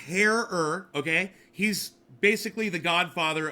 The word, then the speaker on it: Herer: Herer. It's pronounced Herer, okay?